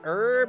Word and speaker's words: herb: Depending on the oils or herbs you choose. Do you guys say it as herb or herb? Like, you pronounce the H, or do you just let the H go silent?